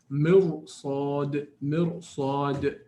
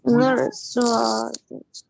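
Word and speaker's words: مرصاد: You say mirsad, not mirsad. Because it's impossible for me to pronounce ra with empty mouth and then follow immediately after a strong full mouth sad.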